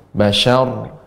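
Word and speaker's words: بشر: Ya, roknya tebal, namun huruf sebelumnya tidak tebal ya. Jadi tebalnya di ujung. Bashar, syar.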